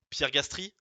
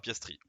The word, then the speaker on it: Piastri: Pierre Gastry, Oui, c'est une bonne réponse, mais c'est mal prononcé. Oscar de son prénom. Piastri, quoi? Non, non, je rigole. Oscar Piastri, très bien, c'est une bonne réponse.